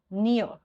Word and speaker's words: near: Okay, so similarly we have these kind of sounds, like we have near, so you call this near. R is silent in this word, like fear, R is silent.